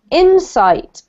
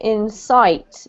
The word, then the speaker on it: insight: pronoun you pronounced it in sight but it should be insight insight that's better yes so the emphasis on the first syllable carco okay inside inside